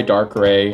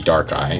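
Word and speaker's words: Darkrai: and dark eye gx so dark eye dark gray i think we've heard it both ways i think the japanese pronunciation is supposed to be dark eye so we'll go from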